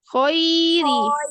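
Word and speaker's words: خَيْرِ: Ketika khairi, jangan gini. Khairi. Nggak pakai senyum. Dia hanya turun rahang.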